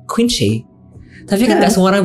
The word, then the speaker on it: Quieenchye: Tapi ejaannya tuh pakai QUIEENCHYE. Nanti baca namanya Quincy.